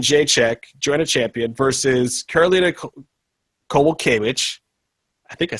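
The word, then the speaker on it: Karolina Kowalkiewicz: Uh Yan and Jek join a champion versus Karolina Koval Kitch.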